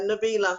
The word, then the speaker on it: Nabilah: biller how does magic come out am i pronounce it correctly yeah Nabila yeah yeah yeah yeah and this is my